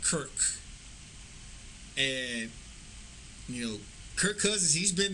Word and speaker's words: Kirk: He kept calling them Kurtz instead of Kirk, and Kirk Cousins, he's been in the league since 2012.